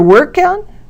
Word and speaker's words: workout: As you can see, the stress is on the first word for the two-word nouns and the second word of the two-word verbs.